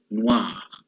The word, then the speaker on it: noir: The third one is O and I together, and we pronounce them wa, like W-A, wa, as the word noir.